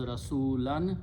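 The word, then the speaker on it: رسولا: So it becomes Rasulan. When you stop, you pronounce Rasula.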